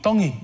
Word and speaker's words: Tongi: Tongi. You pronounce the T's like a D in the Tongan culture.